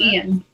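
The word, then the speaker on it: Iain: I think they just pronounce it Ian.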